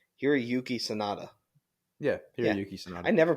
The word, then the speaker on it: Hiroyuki Sanada: But how do I pronounce his first name? Hiroyuki Sanada.